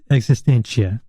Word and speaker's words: Existential: the record yeah oh it's called existential existential like existential but existential right right right latin cool yeah man really